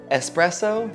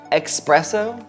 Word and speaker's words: espresso: It is espresso, not expresso, so like, you gotta stop butchering the word. It just makes you sound like you understand coffee more. Even if you don't, if you pronounce espresso with an X, no one will think you actually understand coffee.